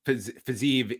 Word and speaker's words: Fiziev: Yeah, Rafael Fiziev is 9-1, and yes, it's I double checked pronunciation here, so we're on the right track here.